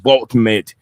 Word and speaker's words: Woltemade: I know it's W, but I know the Germans always pronounce W sound like a V. So maybe I'll go with a Nick Woltemade.